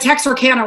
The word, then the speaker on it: Texarkana: name uh her name text arcana and that's a town that's a town up where texas obviously you know arkansas louisiana meet which is not a cajun town but texarkana rhymes with louisiana so i had to